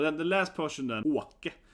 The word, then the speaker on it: Åke: So he spelled it Ake, but it makes no sense. So his name is supposed to be Åke, right? The Åke, to move. Åka, it's like traveling. But yeah, it's a typical, I took it here, typical Scandinavian Å, right?